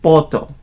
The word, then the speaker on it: puto: Instead of saying puto, they pronounce it poto.